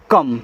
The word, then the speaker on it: come: देखो, जब ओ के बाद एक लेटर छोड़ करके आपका ई आता है तो ओ का उच्चारण एक तो ओ की मात्रा के रूप में होता है, एक आ के रूप में होता है, ठीक है। अब देखो यहाँ पे है कम, यानी कि आ का उच्चारण हो रहा है।